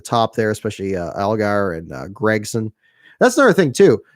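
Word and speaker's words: Gragson: A lot of the usual suspects closer to the top there, especially Algar and Gregson. That's another thing too. How do you guys pronounce Noah Gregson?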